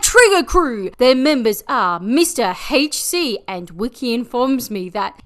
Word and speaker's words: Mr. HC: Their members are Mr. HC, and Wiki informs me that it is pronounced Mr. Hardcore.